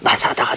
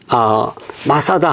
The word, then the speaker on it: 마사다: 그래서 이제 아까도 잠깐 말씀드렸지만 그래서 메짜다가 헬라식 발음으로 하면 마사다가 된 거예요. 근데 그 장소가 이게 마사다 하면 성경과 관련 없는 것처럼 생각하지만 바로 요 다윗이 요새에 있을 때에 네.